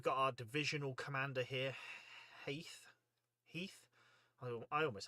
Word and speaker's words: Heth: I've heard it pronounced Heth before, but I just assume they are morons and don't know how to pronounce it. No, I'm not going to say that because some of you out there might say Heth. I say Heath and I believe it to be Heath. I believe that's how it should be pronounced.